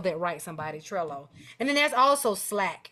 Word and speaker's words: Trello: mind and uh as aun D would say tro but it's actually pronounced Trello Trello you can actually go to sites like